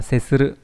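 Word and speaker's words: 接する: Chữ Hán là chữ tiếp. Đúng không? Đọc là setsuru.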